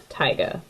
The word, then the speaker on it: taiga: taiga food web and yes that is how you pronounce taiga okay I'm gonna start